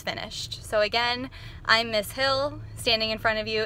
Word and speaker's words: Hill: First off, my name is Miss Hill, that's Hill. And in French, it's actually pronounced because in French, we don't pronounce the H and the I makes kind of a E sound.